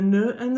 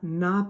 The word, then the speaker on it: n'a: It sounds really awful to say Cléa ne a pas. It's just choppy and it doesn't flow well, and they want it to flow. So they say Cléa n'a pas.